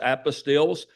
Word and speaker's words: apostille: We do summons, trademarks, apostilles. Apostilles are not like Matthew, Mark, Luke, and John, okay? It sounds different, it's spelled different.